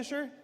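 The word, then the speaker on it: Leicester: How do you say it? Is that Lester? Lester.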